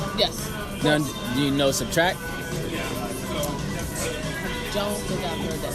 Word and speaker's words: SBTRKT: Now, do you know Subtract? Don't think I've heard that song. No. Subtract's an artist. He's like okay. It's like he spelled without the vowels, so it's like SBTRKT.